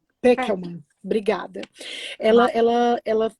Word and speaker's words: Pekelman: É correta a pronúncia, Pekelman? Peckelman.